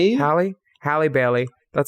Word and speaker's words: Halle: And you know, it works because Hailey Bailey Hailey Bailey, is that how you say it? Is it Halle? Halle.